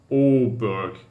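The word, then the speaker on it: Åberg: Is this pronounced Aberg? Or is it to Aberg? Oberg.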